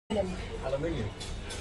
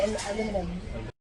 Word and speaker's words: aluminium: Aluminium. Aluminium. Aluminium. Aluminium. Americans say aluminum.